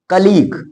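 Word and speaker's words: colleague: पहले हो तब वहा यू साइलेंट रहेगा जैसे य कलीग इसको कलीग बोलेंगे ध्यान देना सी O double L ई ए जी यू ई इसको सिंपली कलीग बोलेंगे कलीग मींस होता है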